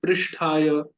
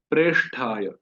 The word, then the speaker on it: प्रेष्ठाय: फिर है प्रेष्ठाय, तो कुछ भक्त इसका उच्चारण करते हैं पृष्ठाय, पृष्ठाय, और कई उच्चारण और भी करते हैं जो गलत है। सही उच्चारण है प्रेष्ठाय, कृष्ण प्रेष्ठाय।